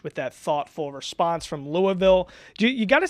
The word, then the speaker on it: Louisville: You got to say I say Louisville, but you got to really say it's like you have water dripping. You're supposed to say Louisville. I hate it. Just say it how it's spelled. Louisville. It's Louisville. It's like you got to have the water dripping out of your mouth.